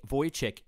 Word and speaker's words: Vujicic: My name is Nick Vujicic, pronounced Vujicic.